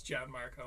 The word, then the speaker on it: Gianmarco: I know it's Gian Marco. I will say Gianne. Um, pronounce my name however you feel.